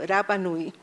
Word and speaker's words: Rapa Nui: Los Rapa Nui, la R no se pronuncia en Rapa Nui, por eso digo Rapa Nui, o pascuenses, como se